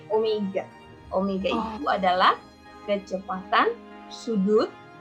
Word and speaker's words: omega: Omega itu bukan W, ya omega, bacanya omega.